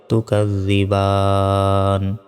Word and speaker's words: تكذبان: থামলে উচ্চারণটা হবে তুকাজ্জিবান।